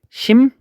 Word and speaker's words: 심리: 그래서 여기에 봤던 우리 교과서에 있는 얘는 심리라고 했을 때 얘는 발음이 심니 이렇게 발음이 되잖아요.